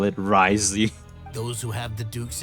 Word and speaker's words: Wriothesley: no sense how people pronounce this guy's name Risley it's like w o t h is silent like what Roth is silent from this name that's how they call it risey those who have the Duke's attention get all